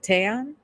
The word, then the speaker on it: Tan: Is it Tayan? Tan. Ton. Yeah. Tan. Tan. You can pronounce You can have the pronounce gap or not. Either word. Okay. I like to I'll say tan.